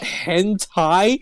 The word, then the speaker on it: hentai: And then my sister was like, oh, it's pronounced hentai, and I'm just like, I want to die.